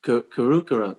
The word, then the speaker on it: Karukara: it's Karukara. It's like, yeah, you have to like do a glottal, your tongue has to be up to the roof of your mouth, right?